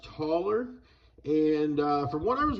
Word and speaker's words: Thaler: It was from the like 17 and 1800s in Austria, and you can see on there it's written Thaler, but it's pronounced taller.